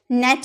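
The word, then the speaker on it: gnat: सकते, आप बोलिएगा नेट, नेट यानी कि मच्छर। फॉरेन, फॉरेन यानी कि विदेशी। तो जब भी आपके जी के पहले एन आपको दिखे ना, तो आपको वहां पर जी का उच्चारण नहीं करना है।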